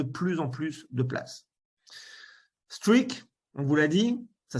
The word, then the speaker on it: Streakk: Streak, on vous l'a dit, ça s'écrit donc comme ça, S-T-R-E-A-K-K, a été fondé par ce monsieur, par Zuki Chen.